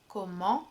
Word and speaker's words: comment: it's more like en, comment, ment. The T at the end of comment is not pronounced, you don't hear it, which is something I